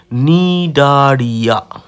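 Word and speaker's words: Cnidaria: পরের পর্বের নাম হচ্ছে নিডারিয়া। নিডারিয়ার সিটা সাইলেন্ট থাকে।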